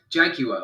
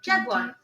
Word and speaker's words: jaguar: yes it's a Jag jaguar or we would say jaguar you would say what Jaguar Jaguar like as if it's spell like jaguar we say Jaguar Jaguar like three very Define syllables uh anyway enough for